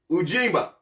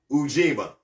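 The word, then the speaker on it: Ujima: determination I keep drifting uima uima u j i m a which is collective work and responsibility and it's pronounced U that U is oo o g ma you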